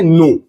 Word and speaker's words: know: जैसे अगर हम लोग बात करें नो, KNOW, इसे हम लोग पढ़ते हैं कनो नहीं, इसे हम लोग पढ़ते हैं नो।